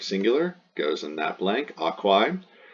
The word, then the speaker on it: aquae: This is the genitive singular, goes in that blank, aquae. Chop off the A-E pronounced I and you get the stem aqua.